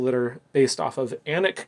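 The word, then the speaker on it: Alnwick: are based off of anik castle it's spelled a-l-n-w-i-c-k anik castle in england and this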